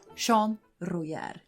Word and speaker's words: Jean Royère: furniture and interior designer sean rujar as i'm gonna say his name is in french you get it yeah